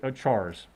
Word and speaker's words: char: strings are arrays of chars right and it's perfectly fine to pronounce it char even though it's character right ch car char when you've got the